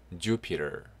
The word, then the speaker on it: Jupiter: Jupiter, Jupiter, 목성. Jupiter, 네, 강세 이쪽에 있습니다. Jupiter, Jupiter, 목성이고요. 철자대로 발음이 되네요.